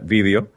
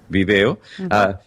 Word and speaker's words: vídeo: de audio y video, que yo sé que en España se pronuncia vídeo y se escribe con tilde en la I, pero aquí en las Américas lo decimos video.